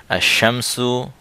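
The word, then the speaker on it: الشمس: উচ্চারণ হচ্ছে না আসসামাকু লাম উচ্চারণ হচ্ছে না আশামসু লাম উচ্চারণ হচ্ছে না আসসালাতু লাম উচ্চারণ হচ্ছে না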